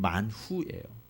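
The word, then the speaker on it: מן הוא: 이 만나의 원래 히브리어 발음은 만후예요.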